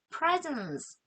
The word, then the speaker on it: presence: presence 생각나세요? presence z 발음 들어갑니다.